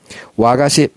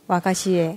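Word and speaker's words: 和菓子: 와가시. 와가시는 일본 과자 전통 과자를 통칭하는 말이에요. 이 화자 한자 화자를 와라고 이제 발음하는데 와자가 붙은 건 다 일본 전통의 어떤 그런 거라고 생각하시면 돼요.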